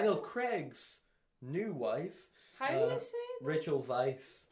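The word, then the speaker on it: Weisz: Craig's new wife Rachel Vice right her yes ritual Vice yeah imagine a vice as in Vic just imagine that's how it's spelled but it's not oh I've I've alerted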